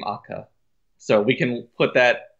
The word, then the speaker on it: ACCA: acronym for something uh they pronounce it AKA so I I assume